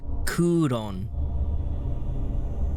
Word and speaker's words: クーロン: Ah, the Japanese pronunciation is Kuron.